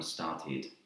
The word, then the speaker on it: started: a tea sound and start become started and that has an ether sound started so just be